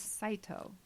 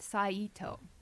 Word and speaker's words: Saito: His name is Saito, Yes. not Saito. I can't. Orens. Yeah. So many people said his name, Saito.